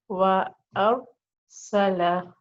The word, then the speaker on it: wa arsala: So how will I pronounce it? Wa arsala, wa arsala, and I'm keeping the alif soft.